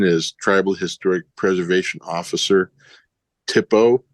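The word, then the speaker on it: THPO: Tippo is how you say that.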